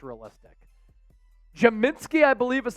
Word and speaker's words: Podziemski: Podziemski, I believe is how you pronounce it.